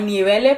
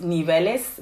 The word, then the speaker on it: niveles: That is how you would usually pronounce niveles, but again, she doesn't pronounce the ending of the words, of most words. So she says, instead of niveles, she says nivele.